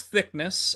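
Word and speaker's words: Thicknesse: seven and one and we have confirmed the pronunciation of this man's name Colby thickness lost to the brother of the champion um that brother being Alexandre toor yeah so it is thickness uh we no shame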